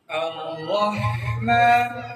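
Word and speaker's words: الرحمن: আলহামদুলিল্লাহি রাব্বিল আলামিন আলহামদুলিল্লাহি রাব্বিল আলামিন আর রহমান আর রাহমা খেয়াল করো দিকে হায়ের উচ্চার উচ্চারণ বাতাস চাপে থাকবে এবং মিমের উচ্চারণে চলে যাবে।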